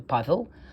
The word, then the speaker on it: Pavel: Anyway, Pavel, like Pablo or Pavel or Paul. Well, he's actually Pavel, and last name Piskarev.